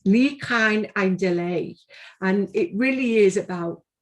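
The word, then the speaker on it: Ni Chawn Ein Dileu: It's Ni Cain Ein Delay.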